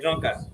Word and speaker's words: drunkard: a drunker thank God he's not yet a drunker you will not be a drunker he's a drunkard he is okay did you mean he's a drunkard he is no I want you to pronounce it he's a drunkard good the